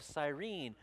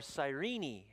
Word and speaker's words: Cyrene: simon's in the bible simon of cyrene or cyrini is sometimes pronounced a province in libya